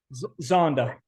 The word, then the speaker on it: Zonda: Zondo, what is it? Yep. I don't know how to pronounce it. What's it called? Zonda.